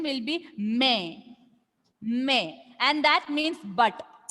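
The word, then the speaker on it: mais: Without trema, pronunciation will be may, and the meaning is but.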